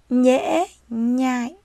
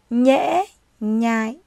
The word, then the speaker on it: nhễ nhại: nào từ tiếp theo nhễ nhại khi đọc chúng ta lưu ý tiếng nhễ chúng ta phát âm thanh ngã nhễ nhại mời các em đọc